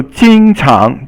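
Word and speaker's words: 经常: So 经常, 经常 is first tone and second tone. So 经 is first, 常 is second.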